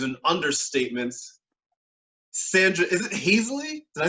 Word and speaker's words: Haseley: Sandra, is it Haseley? Did I say it right? It's Haseley, but there is an E in there that doesn't belong.